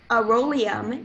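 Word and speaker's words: arolium: all the information please yes aerolium is the only pronunciation it's a noun it's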